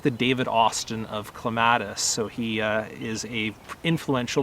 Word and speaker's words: clematis: And I know when I say clematis, that's immediately going to trigger some people because it's pronounced very differently. In British English, they would normally call it clematis or something along those lines.